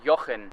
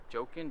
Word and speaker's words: Jochen: nobody can really say my real name which is actually jochen and it's pronounced with it it's spelled with a j so people look at me and they're like wait joking joking i've heard every pronunciation